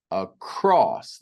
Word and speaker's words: across: Across. The second syllable cross is emphasized. We don't say across. Across. No across. The second syllable is stressed or emphasized.